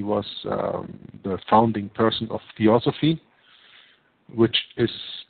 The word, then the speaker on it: Theosophy: Helena Blavatsky was the founding person of Theosophy, which is how you say that, the fusion